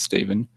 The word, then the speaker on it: Stephen: I think I mispronounced it before and said Stefan, but it's Stephen, just spelled with a PH.